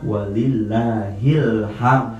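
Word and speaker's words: وَلِلَّهِ الْحَمْدُ: Maka yang betul adalah walillahilham, karena disambung lafaz Allah dengan lafaz alhamdu.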